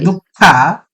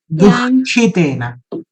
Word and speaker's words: दुःखितेन: So because this visarga is in front of kha, if you say dukkha, you have completely neglected the visarga. Yeah. Right? Visarga should be pronounced. I'm missing it. We have to pronounce it as dukhitena.